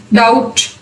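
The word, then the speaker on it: doubt: For example T से पहले वाली एग्जाम्पल्स देखें, डाउट, डाउटफुल, date, debtor, subtle. इसको सबटल नहीं पढ़ना, सटल. M के बाद भी साइलेंट होगा.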